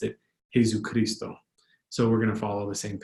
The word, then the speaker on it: Jesucristo: aren't found in Tagalog, but it's a Spanish word, so we're going to go with Spanish pronunciation, but the I is just like an English Tagalog I, Jesucristo, Jesucristo.